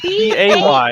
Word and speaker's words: bae: It's not spelled Yeah. the same. B-A-Y. B-A-E is Bay.